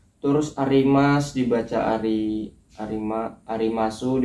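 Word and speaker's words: あります: Arimasu dibaca arimas.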